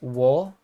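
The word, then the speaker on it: を: then all is sort of like what's happening to them often times there's different particles you use in different situations this is pronounced as o but technically it's wo it's like w technically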